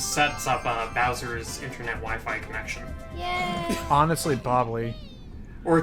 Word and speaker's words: Wi-Fi: is a wiffy yeah that is not a whiffy it's pronounced Wi-Fi it's not a wimpy you know so okay